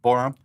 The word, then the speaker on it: Borom: but that guy's more what's it borom borom that's how you pronounce it but i mean